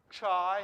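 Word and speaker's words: chi: and then we've got chai here as well and this is a a ch kind of sound like loch and if you afrikaans or something like that you might be able to hook it up a bit better than i can right but it's that kind of sound that ch this will be the first letter of christ for instance you know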